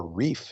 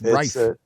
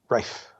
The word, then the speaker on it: rife: have looked at the previous errors, which are reef, if I'm pronouncing that correctly, a lot of errors, and also they're putting massive resources in there. So I think it's it's rife. rife.